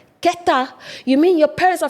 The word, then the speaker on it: Keta: I'll be like, oh, Kita. They'll be, huh? Kita. That's not how you say it. And I didn't know. Keta.